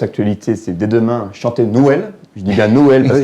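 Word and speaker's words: Nwel: Effectivement, parce que Noël en créole ne s'écrit pas comme Noël en France, donc il y a une petite différence de prononciation. Noël, N-W-E-L.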